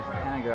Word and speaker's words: Henniger: Oh, it's not Henniger. No, it's Henniger. Henniger, I've been saying it wrong for 2 years.